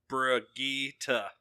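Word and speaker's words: Brigitte: do next yeah just up looked at those pronunciations I guess that's how I say it it is Brigitta Brigitta rakita off yeah off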